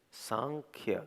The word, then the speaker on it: Sankhya: Alors, La philosophie de "Sankhya", "Sankhya".